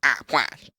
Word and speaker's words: Aplash: You're saying it wrong. It's actually Aplash. Aplash.